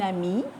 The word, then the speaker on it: amie: Is at the end, but that is silent. Une amie, which means a female friend.